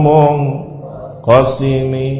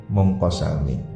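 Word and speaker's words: مُنقَسِمِ: Munazzahun an syarikin fi mahasinihi wa jawharul husni fihi ghairu munqasimi. Ada yang membacanya munqasami. Yang masyhur di sini munqasim.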